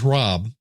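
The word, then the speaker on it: Hrab: And my buddy George Rob and that is spelled Hab does the Geologic Podcast.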